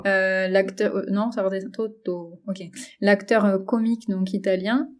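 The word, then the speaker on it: Totò: Il y a un accent sur le dernier O. Comment tu dirais? Toto. Genre ça redescend, quoi. L'acteur, non, ça redescend. Toto.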